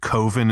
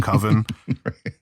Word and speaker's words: coven: never pronounces it right he always calls it koven instead of coven um and it's just